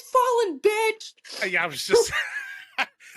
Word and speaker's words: Fallyn: commentators and I'm like, by the way, it's fallen. Like, think of a fallen angel.